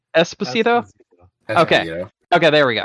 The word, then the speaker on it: Esposito: Despacito with an E, no D. Esposito.